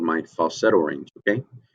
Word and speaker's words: falsetto: Okay, it's called falsetto. You can say it like an Italian, right? You'll see me get Italian a few times. I'm not Italian, but it's fun. Okay, so that's my falsetto.